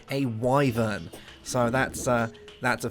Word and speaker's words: wyvern: to think it was called a uh a wyen or a wor or something like that that and I went on these websites you know what it's it's pronounced a wyver so that's uh that's a thing but it's